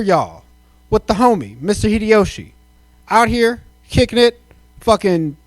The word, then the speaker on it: Hideyoshi: Is the H silent? No. Hideyoshi.